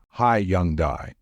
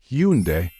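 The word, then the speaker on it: Hyundai: up until December 2022 people in englishspeaking countries pronounced it as high Young die however the managing director of this company changed the way it should be pronounced in English so now the correct way to say this brand is Hundai be careful hiai oh it's Hundai by the way H now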